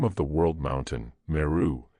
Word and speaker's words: Meru: of the world mountain, Meru, is pronounced in some dialects as Merua, the letter H being strongly aspirated.